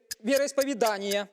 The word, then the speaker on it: вероисповедание: Состояна, поставьте правильное ударение в слове, э, вероисповедание. Ну, вероиспо вероисповедание, правильно.